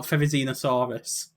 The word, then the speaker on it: Therizinosaurus: Okay, I'm going to mispronounce this as well. Therizinosaurus.